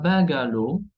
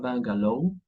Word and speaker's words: bungalow: algunas, pero muy pocas, que se terminan en W y que se pronuncian. Tenemos un bungalow, y no un bungalow, un bungalow, un slow, que es la danza, la baile lenta, y un show, un espectáculo.